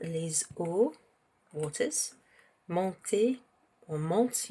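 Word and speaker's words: montent: waters, monter or monte, you don't actually pronounce the ENT there in the they form. It's not monton, it's just monte, okay? You pronounce it as if it's just the root of the verb.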